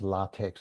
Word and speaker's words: LaTeX: It's pronounced LaTeX. I think it's LATEX, but it's capital L, small a, capital T-E, capital X.